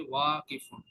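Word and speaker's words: واقف: কিতে টান নাই কিন্তু, ওয়াওয়ে টান হবে, ওয়াকিফুন।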